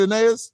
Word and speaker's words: Aeneas: And so when I put what I put on it, just like Aeneas, did I say her name right? Aeneas? Yeah, Aeneas, yeah. Aeneas, just like that, it's like we hear what we hear.